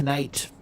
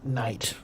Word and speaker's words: knight: So I'm guessing that originally this word was pronounced knight, not night.